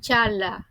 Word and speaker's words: Çağla: Pra, emrat janë "Dooan" dhe "Chaala". Kështu shqiptohen këto emra në spanjisht.